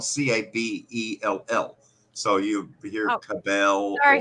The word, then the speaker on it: Cabell: it like huntington is in campbell county but that's spelled c-a-b-e-l-l so you hear cabell very phenomenal sorry jabel or table and it's cappell you know again it's it's just it's funny